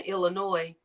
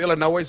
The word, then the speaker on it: Illinois: goddamn state or if you pronounce the s in Illinois right we took a you know heading heading out west we drove through Illinois and then we just